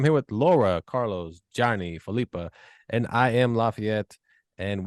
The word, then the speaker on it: Phillipa: Phillipa. Accent on the first syllable.